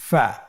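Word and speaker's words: ف: প্রিয় শিক্ষার্থী বন্ধুরা, আজকের দার্সের পরবর্তী হরফটির নাম হলো ফা। ফা জবর ফা, ফা জের ফি, ফা ফি। আবার বলুন ফা ফি। ফা পেশ ফু, ফা ফি ফু, ফা ফি ফু।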